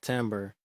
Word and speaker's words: timbre: going to talk about timbre let's b spell e in case you want to do further research it's not well we don't pronounce it the way that it is spelled it's like the word